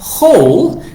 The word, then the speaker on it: whole: Y la palabra whole, que aunque suena como la palabra hueco en inglés, esta se escribe con una W exacto, Lisa.